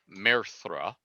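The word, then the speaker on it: Maerthra: dictionary okay so her first name is m-a-e-r-t-h-r-a merthra her her surname which is a tongue twister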